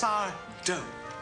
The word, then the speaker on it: Sardo: bye now okay Mr sardo I'll take it's sardo no Mister Accent on the to yeah look um I'll